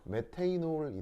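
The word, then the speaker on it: methanol: 메테이놀이 되겠습니다. 메테이놀. 일본식으로는 메탄올이라고 하는 거고요. 영어 발음으로는 메테이놀이라고 하는 건데, 여하튼 그래서 아마 뭐 학교에서 유기화학 비슷한 걸 배웠으면 뭐 수업 시간 한 번쯤 나왔을 거예요.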